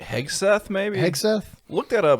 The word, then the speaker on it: Hegseth: we're talking about uh Pete heg Hegde I heg Seth maybe Heth look that